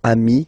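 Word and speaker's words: amis: get demi okay dei so ami remember doesn't change even if you get to write the s then you don't pronounce it okay and now let's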